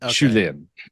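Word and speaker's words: Shu Lien: you Lee you yeah I definitely pronounce too much of the e in shulin but um but uh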